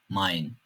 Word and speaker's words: Mein: E ve i harflerinin kombinasyonu da "ay" şeklinde okuyoruz. Örneğin "Nein, Mein".